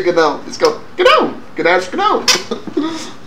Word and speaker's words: GNOME: shouldn't be calling it GNOME. GNOME. I could care less. Navy conventions don't matter to me when it comes. Oh, I know. I'm sure the G is silent.